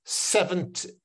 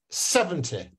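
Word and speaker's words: seventy: If you hear the T, the second syllable, it means it's teen. And then I'm going to say this one, which is 70. 70.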